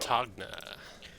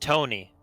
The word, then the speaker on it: Togna: All right, next we got Togna. Well, you see, most people get the name wrong. It's actually pronounced Tony, like baloney.